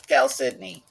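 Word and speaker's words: chalcedony: Aqua Cal Sydney um spelled like calcidone but hey it's gal Sydney this one was originally 90.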